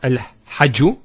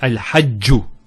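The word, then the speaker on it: الحجّ: Also here, al-hajju. It's not al-hajju, it's al-hajju.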